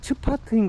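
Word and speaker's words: צפת: 4패드가 16세기 유대교의 중심지였어요 근데 지금은 바람이 4패드가 아니고 영어식 발음인 것 같고 히브리어 발음으로는 스파트인 거 같은데 이게 뜻이 움막이란 뜻이래요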